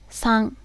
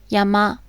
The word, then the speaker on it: 山: For example, the kanji yama can be read as san in words like Fujisan, Mount Fuji, or as yama, meaning mountain.